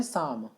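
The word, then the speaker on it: psalm: हैं इसे कहते हैं शाम पीछे अलार्म आप जानते हैं पपीते से स्टार्ट होता है तो इसमें पिज्जा साइलेंट होता है और इसमें विशाल एंटर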